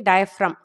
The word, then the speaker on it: diaphragm: completely different like a diaphragm ok G is silent here so diaphragm is the characteristic feature